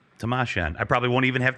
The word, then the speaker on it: Timashion: name for me again uh my name is tamashian tamashian tamashian all right tamashan i probably won't even have to say your